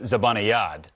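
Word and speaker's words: Zibanejad: it's not it's a it's a soft j it's mika zabanayad and now okay but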